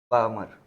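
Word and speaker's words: Balmer: इसे क्या बोलते हैं बामर एल साइलेंट है बालमरौल नैनोमीटर से 400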